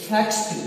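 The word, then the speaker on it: faxed: क्या आ रहा है, स आ रहा है ना, स जब भी आ जाएगा, अगर आप उसमें ईडी जोड़ते हैं तो उसे क्या कहेगा, इसे फैक्स्ड कहेगा।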